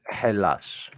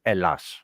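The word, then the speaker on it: Ελλάς: or Elas, and you pronounce it Hellas, which kind of resembles hell, but this is not the true name. The true name is Elas, not Hell as.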